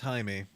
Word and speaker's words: Jaime: It's pronounced Jaime.